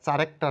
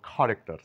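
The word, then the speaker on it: character: হয় না যেমন এটা চারেক্টার না বলে বলব খারেক্টার সি এর পরে এস এর কোন সাউন্ড নেই এটা চোরাস না বলে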